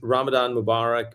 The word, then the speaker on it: Ramadan Mubarak: And the reason why is Ramadan Mubarak means the word Mubarak means blessings.